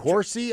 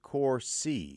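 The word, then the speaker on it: Corsi: It's it's it's a it's How do you spell it? C O R Si. It has something to do with Corsy. I thought you said Cory.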